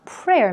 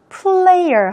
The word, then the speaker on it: prayer: lama at a February prayer meeting in the White House 했네요 2월에 열렸던 prayer meeting 있니다 기도회 기도 모임 이렇게 보시면 되겠죠 레이어의 경우에는 R 발음에 주의하세요 Player 하시지 않도록요네 선수라는 뜻으로